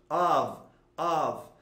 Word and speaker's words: of: Esse of, que é muito comum as pessoas pronunciar esses F com som de F, mas esse F tem som de V, of.